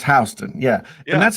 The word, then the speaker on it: Houston: of the island and it is spelled h u s t o n h so most most people would say what Houston right yeah but New York it's h it's hon yeah and that's how